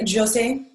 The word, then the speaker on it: José: Am I pronouncing your name correctly when I say José? Thank you. You did listen to the presentation. Yes, it's like Joseph, like I say, but it really doesn't matter.